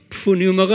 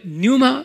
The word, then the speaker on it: pneuma: pneuma, 푸뉴마가 아니라 뉴마 발음은요.